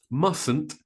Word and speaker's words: mustn't: it's prohibited notice that with the word mustn't there is only one t sound mustn't is pronounced must must